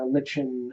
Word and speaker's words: lichen: floor and lined with lichen and sort of coral. Lichen, by the way. That word. It is spelled lichen, so to be fair.